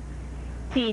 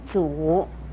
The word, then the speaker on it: 咀: 举字不可以念成阻，而这个